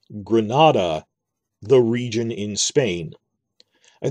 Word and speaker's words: Granada: did it like that it's granada rhymes with nevada the state in the usa that las vegas is in now that's bad example